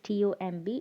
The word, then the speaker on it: tomb: it's dumb dumb okay in all these words the letter b is silent so i want everyone